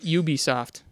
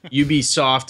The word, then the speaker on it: Ubisoft: with Assassin's Creed uh Syndicate too um you you be soft that's how they pronounce it Ubisoft you be soft and failing as would it be also coming